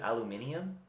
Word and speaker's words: aluminium: what it's called but they say aluminum or aluminium cuz I think British people pronounce it aluminium oh they do yeah